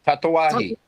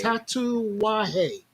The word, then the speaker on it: Tatuaje: Tatawahi. Tahawa, Tatuaje. Tatawahi. Tatuaje. Tatuaje.